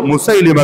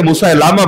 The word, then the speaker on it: মুসাইলিমা: এই দুই ভণ্ডের মধ্যে সবচেয়ে ডেঞ্জারাস যে ভণ্ড ছিল যার নাম হলো মুসাইলিমা কাযযাব, অনেকে মুসাইলামা বলে, শুদ্ধ উচ্চারণ মুসাইলিমা, মুসাইলিমা কাযযাব, ওই মুসাইলিমা